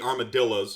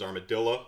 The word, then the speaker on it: armadillo: You do of course have the armadillos, and I'm told that the proper pronunciation is armadillo, not armadillo.